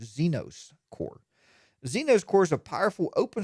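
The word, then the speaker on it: Zenoss Core: to think about now here's the hard one to pronounce xenos core ze n 0 SS cores Zeno's core Zeno's cores a powerful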